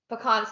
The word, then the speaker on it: pecan: i would say pecan i would put the emphasis on the second syllable if i would say